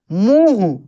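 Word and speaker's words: मुंह: चंद्र बिंदु हटा दिया जाए तो कैसे इसका उच्चारण होगा बास बास नहीं बास होता है क्या होता है बांस बास मुह देखिए मुह मुह नहीं मुह बोलकर आप देखेंगे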